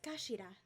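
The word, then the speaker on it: 頭: end of the hilt it's written head in japanese but it's pronounced as kashira i believe so mr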